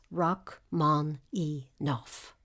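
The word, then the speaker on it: Rachmaninoff: land of the Zar the correct pronunciation of the name as given by the composer is rock man e noof the following conference was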